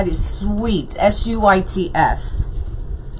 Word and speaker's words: Suits: Yeah, S-U-I-T-S. How do you say it? Am I saying it wrong? Not Sweets, but Suits.